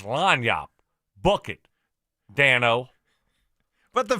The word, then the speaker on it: lagniappe: Should be lagniappe. It's not lagniappe. It's lagniappe.